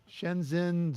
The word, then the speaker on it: Shenzhen: Shen Shenzen Electronics, Shenzhen Zuia Technology Development Company.